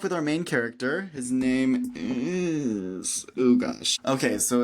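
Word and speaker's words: Naim: His mother named him Name? Awesome. And it's literally pronounced Name. Anyway, Nime.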